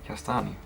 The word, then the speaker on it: kastanj: Kastanj.